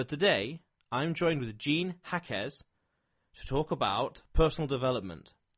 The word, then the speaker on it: Jaquez: My name is Jean Jaquez. The J sounds like an H, so that for those of you that are reading might pronounce it differently.